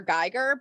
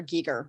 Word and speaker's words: Giger: Geiger, but his name is actually pronounced H.R. Giger.